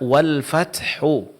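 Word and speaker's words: والفتح: Kesalahan yang sering terjadi, orang membaca kalimat wal fathu dengan menghilangkan huruf h-nya.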